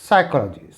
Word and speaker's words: psychology: हम पढ़ते हैं समम स यहां पर पी साइलेंट है तो it will be साइकोलॉजी साइकोलॉजी वन एन E silent